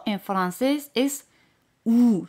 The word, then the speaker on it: ou: O en francés es ou, se pronuncia como la O española, ou.